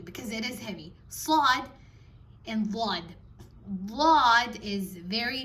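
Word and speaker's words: ص: Now sad, again, should not be mixed or confused for sin. Sin and sad have a different pronunciation. Sin is where you can hear it clearly, your tongue is not rolled. With sad, you can hear the sound turning a little bit hollow, or it becomes heavy because it is heavy.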